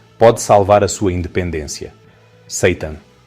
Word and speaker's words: seitan: Seitan. Sim, pronuncia-se como Satanás, mas esta proteína à base de trigo é tudo menos maligna.